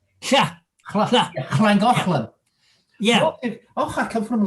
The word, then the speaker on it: Llangollen: They've got the double L, which is pronounced no, it's cla. Yeah. Llangollen.